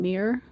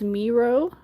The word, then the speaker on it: Miro: The Miro ones, I called them mirror. That's not how you pronounce that, but you know, what it is what it is. We can call it whatever we want to call it. Uh when I looked it up, it's Miro.